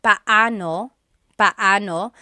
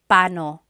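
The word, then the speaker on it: paano: And then just a pronunciation tip. It's technically pao pano. When there are two vocab or when there are two vowels together, you say them separately. But when speaking quickly, Filipinos just say pano.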